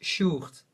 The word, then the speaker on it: Sjoerd: my real name is Sjoerd, but that's like a Dutch name, so it's really difficult if you come outside of Holland.